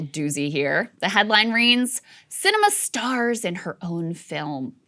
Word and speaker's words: Sinema: here the headline reigns cinema stars in her own film init dowd writes the arizona senator's name is pronounced cinema and it is apt